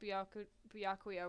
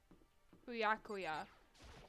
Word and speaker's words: Byakuya: I believe that this is the small talk Byakuya warned us about.